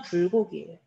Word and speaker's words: 불고기: 자, 불에 사는 고기가 아니잖아요. 물에 사는 고기는 물고기라고 된소리 해준단 말이야. 근데 불에 사는 게 아니잖아. 그래서 불고기라고 된소리 없이 발음을 하는 게 맞습니다.